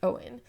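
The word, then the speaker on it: Eoghan: uh shinji's prince name which is prince owen in irish even though it's spelt like eogen but it's owen and then this woman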